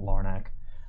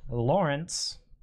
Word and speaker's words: Lawrence: uh devonta smith justin fields nice trevor not lornak lawrence it's not lornak place for the jags